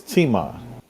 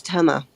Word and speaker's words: Tema: in the queue is teema hi hi there actually it's tema okay tama that's okay